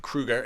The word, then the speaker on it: Kroeger: I should say Mike Kroeger is how to say it correctly.